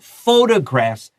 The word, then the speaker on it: photographs: And photographs needs to stress the first syllable because we're going to talk about another word, photos and photography, and that has a different stress.